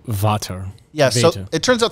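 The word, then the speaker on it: Vater: father in swedish or something in german it's vata yes so it turns out that's actually a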